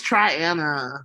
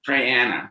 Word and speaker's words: Triana: up triana alabama okay it's try anna try anna try anna okay sorry i've said it wrong i'm trying to i know it now um and you can